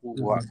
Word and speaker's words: pouvoir: pouvoir বলেন, pouvoir। Pouvoir. হ্যাঁ হ্যাঁ, Pouvoir.